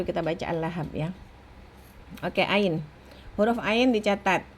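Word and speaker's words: ع: Huruf ain dia ada aliran suara tapi sedikit, tidak seperti H. Aliran suaranya sedikit. Terus kemudian pada saat diucapkan tidak ada hembusan nafas. Jadi tidak ada nafas yang keluar. Oke. Bunyinya seperti hamzah, bunyinya tidak seperti hamzah karena dia mendorong katup epiglotis ke belakang tenggorokan.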